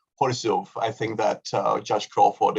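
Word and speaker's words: Chorzów: on my side that I like to pronounce the factory in its original Polish name, Horsów.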